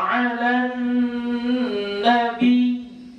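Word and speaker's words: عَلَى النَّبِيِّ: Ya, Innallaha wa yusalluna 'alan nabi. Nabi itu ditekan.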